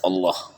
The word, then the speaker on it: Allah: Jadi tafkhim tadis itu ada juga di lafzul jalalah atau Lafzul Allah. Jika didahului oleh fathah atau dhammah maka dibacanya tebal.